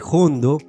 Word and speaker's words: jondo: de la palabra hondo pero debido a que muchos andaluces pronunciaban esa ha inicial con una aspiración tan fuerte el vocablo acabó sonando como si tuviese una J por otro lado es